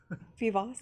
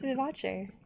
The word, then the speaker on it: Vivace: Vivos? No, it's Vivace.